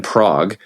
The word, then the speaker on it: Prague: cuz it filmed in Prague um and I was hoping it would be like closer to the comic it's pronounced prag Prue yeah P um